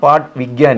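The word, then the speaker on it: पाठ विज्ञान: പറഞ്ഞു കഴിഞ്ഞാൽ പാട് വിജ്ഞ ഹിന്ദി ശരിക്കുള്ള ഉച്ചാരണം പാട്ട് വിജ്ഞാൻ എന്നാണ്. അവർക്ക് ഞാൻ ഉച്ചരിക്കാൻ പറ്റാത്തതുകൊണ്ട് ജ എന്നാണ് ഉച്ചരിക്കുന്നത്.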